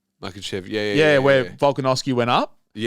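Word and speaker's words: Makhachev: Makachev, yeah.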